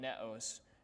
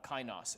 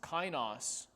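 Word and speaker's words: καινός: i said it wrong it's not netos it's uh kainos kainos consistently means renewed and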